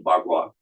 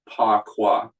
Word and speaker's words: Bagua: That's the correct pronunciation, Bagua. But people, because of Wade Giles, pronounced it Pa Qua, because that's the way their language book spelled it, P-A-K-U-A.